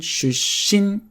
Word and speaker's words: 出身: you could also use 出身です。出身です。出身です。Watch the double consonant 出身.